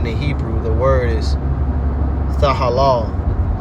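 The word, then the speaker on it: תהלה: The word is tahalah. Tahalah. Strong's H 8416 tehillah tehillah In the ancient Hebrew it's pronounced tahalah.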